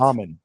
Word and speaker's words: Momin: Mommen. Yeah. Just would be like log with it phonetically spelled out so everyone knows it's actually Mommen.